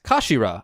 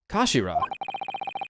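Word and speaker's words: 頭: end of the hilt it's written as head in Japanese but it's pronounced as Kashira I believe Kashira so Mr isogi's words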